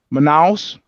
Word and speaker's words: Manaus: How do you pronounce it? Manaus.